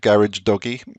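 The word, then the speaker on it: Gharajedaghi: dagi they you say think of garage doggy you can pronounce his surname uh I met him and that is how he pronounces it um we see the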